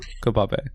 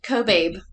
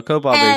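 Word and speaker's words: Kobabe: pronounced um if you look back at my pronunciation that wrong kab it's actually it's actually cobab I was yes I looked I love that love that no cobab is way better pronunciation person change your last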